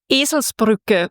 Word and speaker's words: Eselsbrücke: Eselsbrücke. Donkey bridge. What is it? A donkey bridge. A donkey bridge? Mm-hmm. This is my new favorite thing. Tell me again how to pronounce it. Eselsbrücke, which means if you're stupid like a donkey,